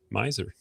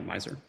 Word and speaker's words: Mizer: Uh Miser, did I say your last name right? You did. Yeah, people overthink it sometimes and come up with some really interesting pronunciations. But yeah, Meiser.